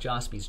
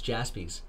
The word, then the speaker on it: Jaspys: Not Jaspys, Jaspys.